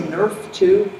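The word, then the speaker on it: Nrf2: see something quick so just I say Nerf 2 it's spelled capital N little r little F the number two all that means in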